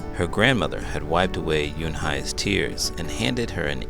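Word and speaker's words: Unhei: is spelled u n h e i it's pronounced Yoon Hai oh it's you hey the boy said like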